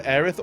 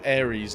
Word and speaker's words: Aerith: But also Aerith was either Aerith or Ares, depending on what version you played.